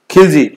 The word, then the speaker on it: खिलजी: और GKTSL है यही, गुलाम, खिलजी, खुजली नहीं है, खिलजी, गुलाम खिलजी तुगलक सैयद लोधी।